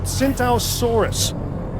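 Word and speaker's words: Tsintaosaurus: It's called a Tsintausaurus. The T is silent, like the P in swimming.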